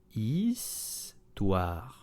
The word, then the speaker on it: Histoire: Histoire, very slow. Histoire. Histoire. The H is silent, so begin on the vowel. It's okay? This is not histoire, no, histoire.